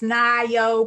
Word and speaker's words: Nayo: know my name it's nayo i know everybody does it looks like mayo pronounced it neo it's all good um